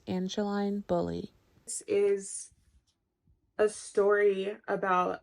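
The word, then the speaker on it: Angeline Boulley: Daughter by Oh No angelene Bully Boule so both of those were wrong her name is pronounced Angeline bully this is a story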